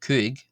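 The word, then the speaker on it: cúig: Uh we have then the number five which is simply pronounced Kig Cig Cig and just briefly uh going back to four there.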